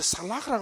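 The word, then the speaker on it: סלח: 첫 번째는 역청을 발라가지고 죄의 영향력이라든지 죽음의 물길이 넘치지 못하도록, 넘어오지 못하도록 막는 것이고, 그게 카파르고, 두 번째 살라흐라고 하는 단어가 있어요.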